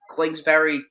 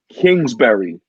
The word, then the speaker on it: Kingsbury: dude is special and having a very look glinksbury excuse me for if i'm pronouncing mispronouncing his name but oh my glyph kingsbury thank you there you go i appreciate it